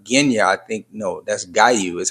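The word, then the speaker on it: Giyu: We get to see the water Hashira, Genya, I think, no, that's Gayu is how we say his name.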